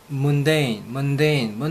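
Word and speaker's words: mundane: 문데인 뭐랑 비슷합니까? 먼데이랑 비슷하죠?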